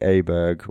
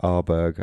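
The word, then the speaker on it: Åberg: And then the picks were Shane Lowry, Sepp Straka, Ludvig Aberg, or Arberg, I think it's pronounced in Swedish, Victor Hovland, Mats Fitzpatrick, and Jon Rahm.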